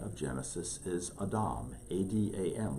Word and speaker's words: Adam: The name that he gave us back in chapter 1 of Genesis is Adam, A-D-A-M. We call it Adam in our pronunciation, but Adam.